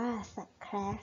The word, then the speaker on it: Scratch: นะ คะ ลูก โปรแกรม สแคส อ่าน ว่า สแครช นะ คะ ลูก เป็น